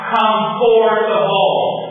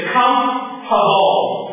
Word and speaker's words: comfortable: the pronunciation is not comforable the pronunciation is comtable comtable not comforable good com com comtable